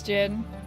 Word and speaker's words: Djinn: It's Jin. I've been saying Djinn.